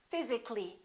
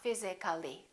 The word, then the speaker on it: physically: we say practically physical how would we say that physically not physically let's do a few